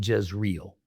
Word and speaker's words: Jezreel: We We say Jezreel, like the Jezreel Valley.